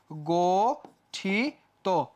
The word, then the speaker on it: গঠিত: আছে ইত যুক্ত আছে তাহলে কি হয়ে যাবে গঠিত গঠিত হয়ে যাবে পঠিত পঠিত হবে পয় ওকার